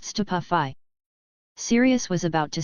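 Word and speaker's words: Stupefy: It's<unk> pronounced stupafi.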